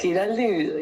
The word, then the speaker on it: Giraldi: Is it Giraldi? How do you pronounce it there? Oh yeah, Giraldi, it's the way I would prefer.